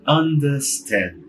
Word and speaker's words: understand: O verbo entender em inglês é understand. Understand. O under, ele tem um Rzinho lá, depois de uma vogal. E antes de uma consoante, S. Então sim, ele some, ele não é pronunciado.